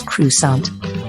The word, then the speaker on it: croissant: glorious presence of croissants a famous french bread pronounced as crusade this food gained interest